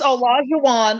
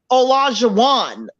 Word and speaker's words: Olajuwon: So it's Olajuwon. A lot of people just call him O because they can't, pronounce. Yeah. But it's basically like Elijah, but with an O. Olajuwon. But it's Olajuwon.